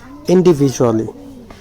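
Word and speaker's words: individually: Then in small groups and ইন্ডিভিজুয়ালি, এই শব্দটা একটু দেখেন, এর প্রনাউন্সিয়েশনটা ইন্ডিভিজুয়ালি। তো এখানে কিন্তু ডি আছে, ডিকে আমরা যে পড়তেছি, জ উচ্চারণ করতেছি, এর কারণ কি, যখন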